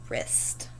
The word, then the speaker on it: wrist: macron on our e 20 is wrist here we have that w r digraph mark off our w and our eye gets